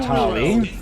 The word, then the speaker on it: Tali: Not Talia this time. What did you say? Not Talia. Like you mispronounced her name so many times as Talia.